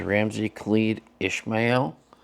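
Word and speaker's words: Ramsey Khalid Ismael: and this time I figured out how to pronounce his legal name which is Ramsey khed Ishmael um so now I can say that with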